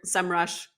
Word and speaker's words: Semrush: ahrefs or your semrush i think it's semrush now it used to be like the capital sem and then rush i'm sure everyone pronounced it sem rush but it's kind of like one of those brands that now all of a sudden they call it semrush so who knows what it actually is but i used to